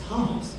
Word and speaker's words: Taos: Taos. Spelled like Spelled what's right? cow. Dow? Cow. T-A-O. Oh, it's spelled T-A-O. Yeah. Oh, Yeah, okay. T-O-A-S. House. Oh, there is an S. Yeah. So it's like chaos, but Yeah.